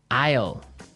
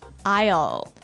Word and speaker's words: aisle: i s l e Isle Isle it's a tricky word it sounds like the contraction of I will yeah but it's spelled so strangely right we don't pronounce the S the S is silent that's true ale so